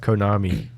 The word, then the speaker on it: Konami: It's pronounced Konami.